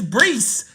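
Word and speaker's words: Breece: to say his name it's not breach it's Bree would go ahead and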